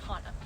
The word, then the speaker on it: Hana: What's the most common mispronunciation of your name? Hana. It's Hana.